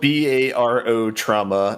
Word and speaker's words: Barotrauma: I also want to say it's spelled BARO trauma, not like you're borrowing somebody's trauma. Yes. No, as in barometric.